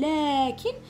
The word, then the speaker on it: لكن: معناتها تنطق الالف ولا تكتب، ننطقها بصح ما نكتبهاش. عندنا امثله: لكن، شوفوا راني نقول لكن بصح مانيش نكتب الالف تاعي، كتبتها لكن.